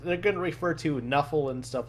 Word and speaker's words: Nuffle: They're going to refer to Nuffle and stuff like that, which is a play on, if you pronounced NFL as one word, Nuffle.